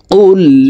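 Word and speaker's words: قُلْ: কুল ইয়া আইয়ুহাল, কফ লাম পেশ উল, কফ হরফের উচ্চারণ জিহ্বার গোড়া তার বরাবর উপরের তালের সঙ্গে লাগাইয়া পড়তে হবে।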